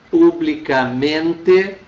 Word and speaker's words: publicamente: Vejam, desculpa, ouçam novamente que publicamente mantém a sílaba tônica no men, não altera a pronúncia, mas na questão acento, sim.